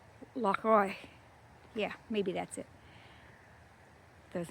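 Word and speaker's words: Oich: This is Loch Oik. Oik. The guy told me how to say it, and it's like you're saying Oive if you're Jewish. Loch Oik.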